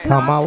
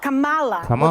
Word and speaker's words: Kamala: if you don't want to learn how to pronounce. Didn't she just say Kamala? Ain't that what her name is? Kamala. This is Kamala. not Kamala, which they say on purpose.